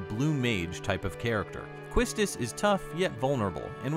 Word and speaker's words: Quistis: the first name to begin and it'll be pronounced quistus for the time being she hasn't had a